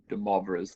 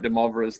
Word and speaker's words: de Moivre: who've taken French class we know how to pronounce that as moi so rather than Moy and it's pronounced blah so once again I would I would call this de maras theorem and so what